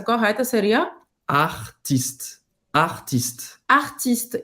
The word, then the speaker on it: artiste: Em francês também é ti. O T é seco. O T, ele não tem esse som de ti. Uhum. Então, aqui no caso, a pronúncia correta seria artiste.